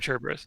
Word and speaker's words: Cerberus: The best Cerberus boy? or Cerberus? It's Cerberus, right? Cerberus. You don't pronounce the H.